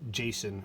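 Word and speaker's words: JSON: ones we have enabled Jason packets those that's how you say it okay so again same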